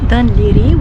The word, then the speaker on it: Dun Laoghaire: G H A I R E but it's pronounced Diri origin. Originally Dan Liri was a small fishing village which was named after a fifth century hiking called Liri.